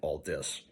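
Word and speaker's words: Aldiss: and Rogers alazne and Brian Alis and yes that's the correct way to pronounce it Al dis um and uh others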